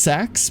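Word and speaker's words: seax: It's pronounced sax, but is it epic?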